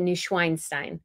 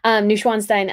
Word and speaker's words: Neuschwanstein: I bought from Neuschwanstein, because I said Neuschweinstein, and Schwein sounds more like swine pig. So Schwan, just anyways, pronunciations issues. Neuschwanstein, I got a t-shirt there that I wore during this trip.